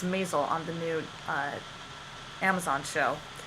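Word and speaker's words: Maisel: creativity coach now by Eric myzel Mazal not sure how to pronounce it I believe it's Mazal on the new Amazon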